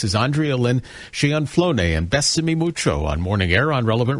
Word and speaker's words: Bésame Mucho: But we're going to just play a very small segment of, am I pronouncing this correctly? Besame Mucho? Oh, Besame Mucho, Kiss Me Much, yes, by Consuelo Velasquez.